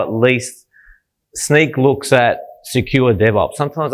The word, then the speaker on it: Snyk: this company called sneak some people say how do you pronounce that and I've just said it sneak so the easiest way to to work it out is um sneakers sneak right so what it stands